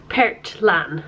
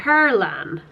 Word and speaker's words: Perlan: Why is it called, well, why do you pronounce it Pertlan? Perlan. It's Icelandic for pearl. No, but if it's spelled... Perlan. Yeah, but where's the T coming from? I honestly don't know. It's just Perlan.